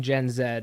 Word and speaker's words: Gen Z: specific to gen z i guess i should be saying gen zed it's not really patriotic of me to use that uh pronunciation so gen zed that